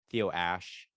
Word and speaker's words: Theo Ash: I've got the easiest name in the world, Theo Ash. If you mispronounce that, you're just dumb, or you don't speak English. Maybe that's okay if you don't speak English, but if you do speak English, yeah, Theo Ash.